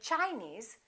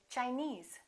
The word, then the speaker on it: Chinese: some rules regarding suffixes if the word ends with e e we stress the suffix for example Chinese we don't say Chinese we say Chinese Japanese Portuguese all right